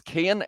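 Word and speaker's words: Cian: And the reason I say that is so that I can say that his name is Kian and I can get that pronunciation worked out.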